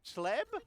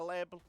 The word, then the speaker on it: Chleb: aka Apocalypse, with Robbie Chleb. I assume it's Chleb. It might be a hard CH, like a Chleb. We're going to go Robbie Chleb just because that's how it's spelt.